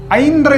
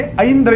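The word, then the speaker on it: ऐन्द्र: इसका शुद्ध उच्चारण है अंद्र योग वैधृति योग कोई कोई यहां पर इंद्र योग कहते परंतु ये अंद्र योग है इनके देवता इंद्र होते हैं इस प्रकार से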